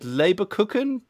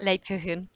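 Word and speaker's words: Lebkuchen: Gift Wrap, and, how do you say it, Leberkuchen? Did I say it right? Leberkuchen.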